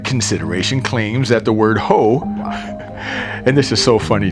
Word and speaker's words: Hoh: The Ho Rainforest, pronounced Hoe, earns its name from the everflowing Ho River that carves its way from Mount Olympus toward the Pacific coast.